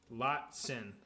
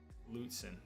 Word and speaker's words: Lutsen: I guess I'm pronouncing it wrong. They need to be a sponsor. I mean, the reality is they'll never sponsor because Lutzen. Lutzen. Use the U more.